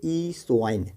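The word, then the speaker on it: eosin: हैं ईसोइन, ठीक है, ईसोइन, ठीक है, ईसाइन, ठीक है, EOSI, ओ साइलेंट होगा, ईसाइन, ठीक है, या ओ साइन पढ़ सकते हैं, ईओसाइन, ठीक है।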